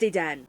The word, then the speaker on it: Dedenne: Number 5 for me has got to be Dedenne. It's pronounced Dedenne. Get your foreign out of here! We only speak Murican here! Kalos is based on French, so excusez-moi for thinking it's a French pronunciation.